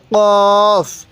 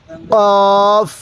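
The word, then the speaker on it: قاف: এর উপরে এক নক্তাক্তা কফের উপরে দুই নক্তা তাহলে কফ উচ্চারণের সময় হালকা গলার মধ্যে ধাক্কা দিব কফ এরপরে কাফ কাফটা সোজা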